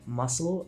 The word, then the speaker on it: muscle: Silent C is a bit sneakier. In words like muscle and scissors, the C is completely invisible to your ears.